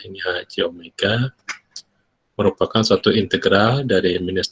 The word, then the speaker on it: omega: transfer lambangnya HC Omega ini dibacanya Omega bukan W ya ini HC Omega merupakan suatu integral dari